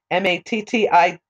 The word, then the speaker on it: Mattathias: So Judas Maccabeus was one of the sons of Mattathias Maccabeus. So actually, it can also be pronounced, it can also be pronounced as Mattathiao, Mattityahu, or also it's also found as Mattathias Maccabeus.